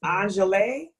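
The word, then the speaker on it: Angele: mispronounce your name is anel a n g e l e so that's the right pronunciation yes you beautifully thank you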